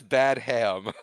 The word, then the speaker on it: Badham: It says Bad Ham, but that's not how you pronounce it.